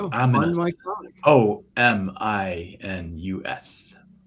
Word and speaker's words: Ominus: I can say it right. See, if Katie's here, she has a heck of a time saying it. It's just ominous. The regular word ominous with the U with the O taken out of it, just